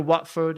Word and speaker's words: Watford: to Watford, you know Watford in England? It's actually Watford. Right? But they say Watford. Why? Because they don't pronounce the T.